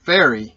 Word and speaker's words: Faery: saying it correctly but it's spelled f-a-e-r-y fairy is what it sounds like to me and uh yeah that